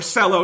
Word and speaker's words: Cello: meyer cello did mashemercello or cello is really what they say but it's spelled like cello and that's funnier so